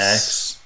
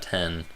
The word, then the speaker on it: iPhone X: X. And we should have pronounced that 10.